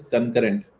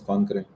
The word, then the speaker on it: concurrent: cpu utilization okay uh the pronunciation of this word is concurrent that's what we checked on google a couple of days ago i mean i was thinking it's concrete yeah concurrent each part